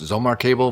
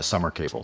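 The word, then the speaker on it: Sommer Cable: I think the name is actually pronounced Zomar Cable, but being that I'm don't speak any German, I'm just going to use the uh, US pronunciation of uh, Summer Cable. So, that being said, they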